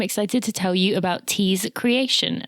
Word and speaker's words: TeeKreation: to tell you about Tease Creation. That is creation with a K.